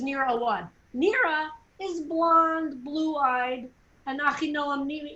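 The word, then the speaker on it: Mira Awad: palestinian singer um uh neera awad is that their right name i think it's near a wad nera is blonde blue-eyed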